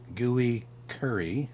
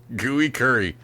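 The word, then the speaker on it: Gui Khury: old brazilian skateboarder okay gooey curry okay gooey curry yeah sounds like bad food gui is the first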